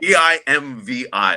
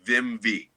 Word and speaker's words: Vimvi: V-I-M-V-I. A lot of people can't pronounce it, but I'm going to help you. Vimvi.